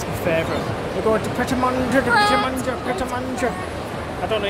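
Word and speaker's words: Pret A Manger: We're going to Pret-a-Manger. I don't know how you pronounce it, but it's literally my favourite place. Everyone just calls it Pret, don't they? It's just Pret. Pret.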